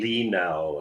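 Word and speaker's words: Li Nalas: is what Lee Now is that how you pronounce his name? Yeah, Lee Now is his name.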